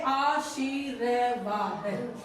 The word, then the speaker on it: आशीर्वाद: तो हमने ये ध्यान रखो कि रे वर्ण जिसके सिर पर चढ़ा बैठा है शिरोरेखा के ऊपर, वो उससे पहले बोला जाएगा। अब इसका उच्चारण करेंगे आशीर्वाद, आशीर्वाद।